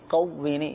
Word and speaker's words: قوینی: کا جو تلفظ ہے قوینی، اس میں موٹا قاف ہے، یا اللہ قوینی موٹا